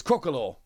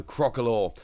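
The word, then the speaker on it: Crocalor: How do we pronounce a stage 1 here? It is Crocolor. There we go, Crocolor.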